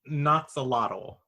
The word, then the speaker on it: Noxolotl: It was Noxeltol, or how do you help me out here, Kenny? How do you say this one's name? I say Noxolotl.